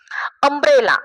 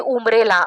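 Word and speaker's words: umbrella: ने चालू होते पण त्याचा जो उच्चार आहे तो अ या पद्धतीने आणि त्याचा स्पेलिंग जे आहे ते यु म्हणजे त्याचा स्पेलिंग जे काही युने लिहिलं जातं म याठिकाणी आपण असं म्हणत नाही की उम्रेला असं म्हणत नाही अमब्रेला म्हणतो म्हणजे अमब्रेला या ठिकाणी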